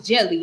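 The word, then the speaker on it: Djèlí: Jelly Clark. So the D is silent. So it's pronounced as Jelly.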